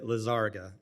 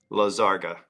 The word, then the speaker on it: Lizarga: I've got a little crisis of confidence since I've heard 4 or 5 different pronunciations. My name is Lizarga. Lizarga.